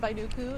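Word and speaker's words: Vainuku: My name is Baiduku. It's spelled.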